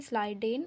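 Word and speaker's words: Schleiden: ये 1838 में और स्ान ये लिखा चाहे जैसे हो स्पेलिंग यही होते हैं लेकिन पढ़ा जाता है स्लाइडेन और स्ान जो स्लाइडेन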